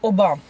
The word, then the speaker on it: Оба: В Турции ударение всегда на последний слог. Это оба.